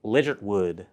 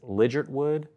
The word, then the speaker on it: Ligertwood: I believe it's Ligertwood. Maybe the T is silent.